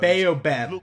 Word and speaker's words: Baobab: Baobab, that's how you pronounce it.